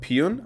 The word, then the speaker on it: Pyun: and is directed by albert pion i believe is how you pronounce his name who's directed films like